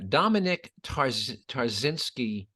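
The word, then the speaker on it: Dominik Tarczynski: link up on the website yeah absolutely yeah Dominic tarzinski again t-a-r-c-z-y-n-s-k-i he's a Polish delegate to the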